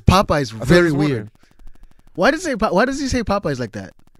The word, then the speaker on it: Popeyes: He says Popeye's very weird.